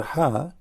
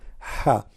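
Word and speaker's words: ح: The letter Ha does not have any dot at all. Ha. Now, how to pronounce letter Ha? Imagine yourself, you are getting cold and you are saying it's cold. That's Ha.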